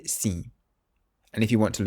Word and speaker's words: sim: So it's a nasal sound.